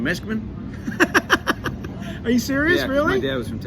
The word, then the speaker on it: Meskimen: going to ask you before we started, Jim Meskimen.